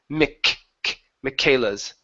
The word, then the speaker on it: Michaela's: And we're going to pronounce this as a K sound, Michaela's instead of Michae. Okay, it's Michaela's.